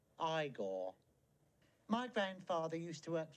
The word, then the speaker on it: Igor: you must be igor no it's pronounced igor my grandfather used to